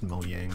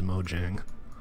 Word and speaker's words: Mojang: entryway here Oh yang I know it's pronounced mo yang but I I can't